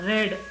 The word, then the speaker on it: read: देखिए वर्ब वही है, लेकिन उसका प्रोनाउंसिएशन बदल गया यूज़ में, आपके बोलने में चेंज आ गया. रेड, आई रेड it somewhere, मैंने ये कहीं पढ़ा.